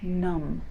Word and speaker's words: numb: I'm so cold my fingers are going numb. Numb means you cannot feel a part of your body. Numb, the B is silent. Numb, numb.